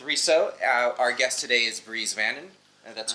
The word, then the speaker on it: Bries Vannon: Our guest today is Bries Vannon. That's correct. That's how you pronounce it.